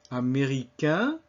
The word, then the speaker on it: américain: Américain, américaine. So américain rhymes with main and bien in the masculine form.